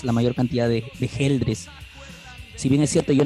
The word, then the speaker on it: Geldres: escena muchas gracias curiosamente muchas personas me dicen algo girl dress pero en realidad la pronunciación es geldres porque no hay entre